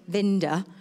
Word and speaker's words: Winter: In fact, you say it Vinda. That's how you say it.